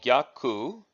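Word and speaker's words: 逆: So in the previous, in number 10, in Sakanuki, it was pronounced Saka, and in this technique, number 11, it's pronounced Gyaku, which means reverse.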